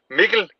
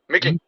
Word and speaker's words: Mikkel: It's Mikkel Bertelsen. Mikkel. Mikkel? Yeah, kind of like not nickel, but Mikkel. Mikkel. Mikkel, like pickle, nickel, Mikkel.